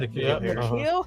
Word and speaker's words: N'Keal: Is it N'Keal? Yeah. N'Keal Harry got a high ankle sprain.